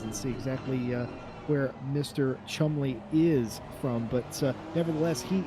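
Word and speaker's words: Cholmondeley: I have to forget that there's a D in there.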